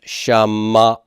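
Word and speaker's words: שָׁמַעַתְּ: And so this silent shava is going to be converted to a pathak, and it becomes Shama'at. Shama'at. Okay? And my accent is going to be on that mem, Shama'at.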